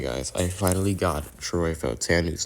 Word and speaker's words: Fautanu: Okay, guys, I finally got Troy Fautanu's name correct.